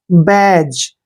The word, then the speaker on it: badge: जब भी जी से पहले डी आता है तो डी हमेशा साइलेंट रखते हैं, यानी डी का उच्चारण हमने करना नहीं है। तो बी को हम बै पढ़ेंगे, ए को ए की मात्रा पढ़ते हैं और डी का उच्चारण हमने नहीं करना है और GE को जय पढ़ेंगे।